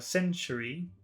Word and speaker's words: century: Combined with a T, it sounds like chew. Chew. Century.